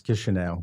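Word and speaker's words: Chișinău: In Russian, it's pronounced Kishinev, and I guess in Romanian, it's Chisinau.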